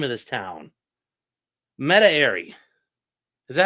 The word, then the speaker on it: Metairie: or Meta Ari. I don't know. I don't know how you pronounce that down in Louisiana. It's Meredith's from Ralph. No, it's not from Ralph. Metairie.